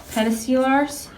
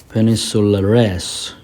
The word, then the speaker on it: peninsulares: Peninsulares is people. Peninsulares. Peninsula is land.